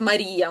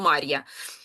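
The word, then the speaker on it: María: От, наприклад, Марія в мене пишеться ім'я ім'я. Так, там на і падає наголос, бо іначе було б Мар'я.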